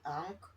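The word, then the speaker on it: ankh: this symbol okay and the symbol is the ank um it's spelled a an k h okay and an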